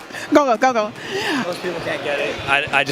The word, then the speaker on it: Gogol: He told me to say it real fast. Gogol.